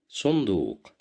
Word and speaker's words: صندوق: صندوق, صندوق, صندوق, which means a box. Here we have dhamma. That's why we pronounce it as su.